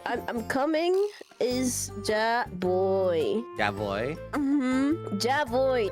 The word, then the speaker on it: ya: If you say I'm coming is ya voy. Ya voy. Ya voy. With a J? Ya voy. Yes. You pronounce the ya with a J.